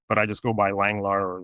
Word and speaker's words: Langelaar: I think the Dutch version is longar uh which is the way my parents say it but I just go by Langlar or Langalar.